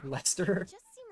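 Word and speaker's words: Leicester: glance i would say i thought it was late chester but it's lester the bravest commander that's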